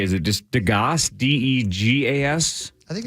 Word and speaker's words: Degas: Degas is how it's pronounced according to this French impressionist, realist, as you well know, a superb draftsman.